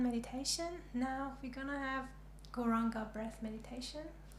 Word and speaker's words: Gauranga: It's got 4 syllables. Gauranga.